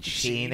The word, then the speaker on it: Chino: That's actually the correct pronunciation of Chino is fucking Chino.